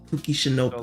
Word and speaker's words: Kuki Shinobu: Kuki Shinobu.